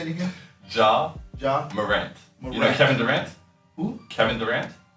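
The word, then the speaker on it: Ja Morant: j.a warren is so funny his name is john moran oh draw a rant i'm sorry for butchering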